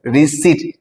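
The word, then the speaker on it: receipt: combination আরি আই পিটি এখানে পি হচ্ছে সাইলেন্ট বাকিগুলো কোনরকমভাবে স্পেলিংটা ম্যাচ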